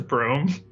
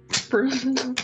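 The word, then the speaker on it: Brum: His name was Broom. Broom B-R-U-M, LaCroix. Broom. Best of friends. B-R-U-M, Broom, if you'd like to spell it.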